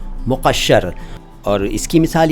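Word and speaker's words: مقشّر: इसके बाद एक शब्द है मुक़श्शर। मुक़श्शर देखिए, उच्चारण देखिए, अरबी से आया हुआ शब्द है मुक़श्शर, मुकस्सर नहीं, मुक़श्शर नहीं।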